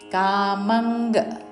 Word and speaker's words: కామం: దర్పంగ్ కామం క్రోధం పరిగ్రహం కామంగ్ అనుస్వారము అంగ్ ఉచ్చారణ క్రోధం పరిగ్రహం రీ మీద